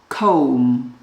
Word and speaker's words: comb: perfume, aftershave, moisturizer, hairbrush, comb. Pay attention to this letter B. Letter B is silent.